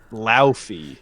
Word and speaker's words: Laufey: Laufey. Yeah. As they said it's pronounced.